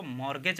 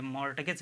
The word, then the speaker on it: mortgage: तो इसको मॉर्गेज आप पढ़ेंगे, मॉर्टगेज नहीं कहेंगे, ठीक है।